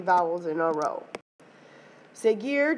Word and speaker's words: seguir: Seguir, just like it was in the preterite, is an exception, okay, because you don't pronounce the U.